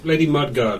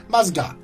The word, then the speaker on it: Musgard: Lady Mudguard, was it? Oh, I've heard that you like to do this. How fun. Do what? mispronounce people's names. What? Lady Mudguard. Musgard.